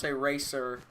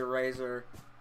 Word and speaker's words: razor: is a hard S, and razor is a Z sound. So it's like eraser. You don't say racer when referring to the cutting thing. You say razor.